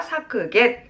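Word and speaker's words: 削減: 우리 사크겐 하시면 되겠습니다. 사크겐.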